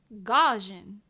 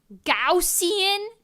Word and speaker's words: Gaussian: I need to know I thought I knew how to say that word gajan I'm positive that's how